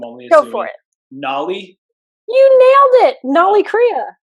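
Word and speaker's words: Nauli: it before, and I'm going to botch the pronunciation of this. I'm only assuming. Go for it. Nolly?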